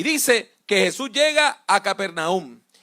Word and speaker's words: Capernaum: Jesús vivía en una ciudad alrededor del mar de Galilea que se llamaba Capernaum. También se puede pronunciar como Cafarnaum.